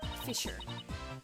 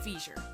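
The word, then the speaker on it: fissure: the three of them fisher fisher fisher when I was a kid my brother and I pronounced that totally wrong we pronounced it fure I don't think that's how I think it's Fisher yeah who juny you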